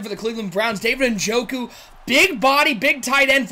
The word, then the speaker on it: Njoku: David Njoku.